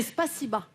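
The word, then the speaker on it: спасибо: Et c'est Spasiba. En C'est russe. Spasiba. Ouais, ça oui, s'écrit bon, O, mais ça écrit se prononce Spasibo, Ah, mais c'est d'accord.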